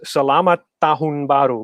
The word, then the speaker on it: Selamat Tahun Baru: So the proper way to say that in proper Indonesian is Selamat Tahun Baru, but Axel is so monotonous right now.